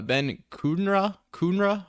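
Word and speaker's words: Ben Kudrna: Regarding the prospects for the Royals pitching, Ben Kunra, I think is how you say it.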